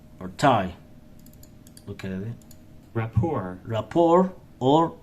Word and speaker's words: rapport: with maintaining a good rapport or a poor Rapport or rapport it means link or tie look at it Rapport Rapport or rapport Rapport or rapport t the letter T sell it bonds link